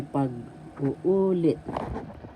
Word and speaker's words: pag-uulit: syllable l pag uulit so first pag second u and the third u that's where the accent is so you say pag uulit pag uulit so reiteration and